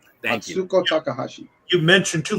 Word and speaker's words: Atsuko Takahashi: My brother just wanted to say her name is Atsuko Takahashi. Thank you. Atsuko Takahashi.